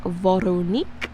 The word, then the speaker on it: Veronique: So it is Veronique is what she told me.